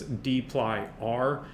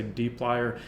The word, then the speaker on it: dplyr: plier first is that the author of the package hadley wickham pronounces this d ply r uh i i think maybe that's because i don't know he's whether that's a regional thing he's from new zealand i can't bring myself to say it i always say deep lier i want you to